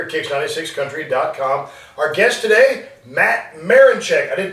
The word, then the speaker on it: Matt Marinchick: Our guest today, Matt Marinchick. I did pronounce that right? That's right, yeah. Matt Marinchick.